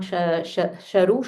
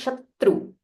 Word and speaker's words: शत्रु: Stress on this tr, it is not sharu, Shatru.